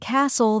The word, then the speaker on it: castle: For example, in words like no, the K is silent, honest, the H is silent, and castle, the T is silent.